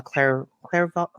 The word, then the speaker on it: clairvoyant: She's a medium, and also a clairvoyant. How do you pronounce that?